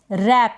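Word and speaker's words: wrap: रैप इसको हम पढ़ेंगे रैप। डब्ल्यू साइलेंट है।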